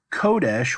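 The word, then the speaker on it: קֹדֶשׁ: before I'm pretty sure kodesh which is the Sega light version of this where we accent the first syllable kodesh is the noun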